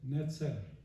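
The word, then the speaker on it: נצר: ¿Saben cómo se dice rama en hebreo? Dice netzer.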